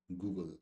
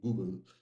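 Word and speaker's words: googol: company is derived from Google. So the pronunciation is actually same Google. It's not Google. People say Google. No, that is kind of very Indian thing to say. It's basically Google.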